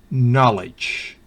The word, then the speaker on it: knowledge: Knowledge, conocimiento. ¿Va notando? K antes de N no se pronuncia, entonces no es knee, no es knack, knife, knife, knight, knowledge.